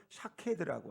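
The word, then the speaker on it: שָׁקֵד: 비슷함 그 히브리어로 있는 그 음성이 비슷하다는 거예요 발음이 살구나무는 샤캐드라고 하는데이 지킨다 이루어진다 지켜낸다 이런 말의 의미도 찾게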